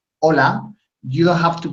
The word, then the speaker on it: hola: is when you say hola you have to pronounce the h sound just hola hola it's not it's no lag in English you say hello okay hola the the egg